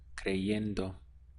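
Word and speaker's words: creyendo: to believe is clear but for the ing tense it goes to clay yendo so change is here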